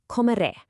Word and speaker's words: comeré: So, our next crucial verb is comeré, I will eat.